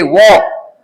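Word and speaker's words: walk: आई आर D bird W ए एल के वॉक इसमें L silent होता है डब्ल्यू ए एल के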